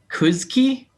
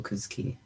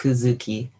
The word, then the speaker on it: Kuzuki: Is it Kuzki? Is that how that person's name is pronounced? Yeah. What's going on there? Is that like a? It's Kuzuki. It's like Kuzuki.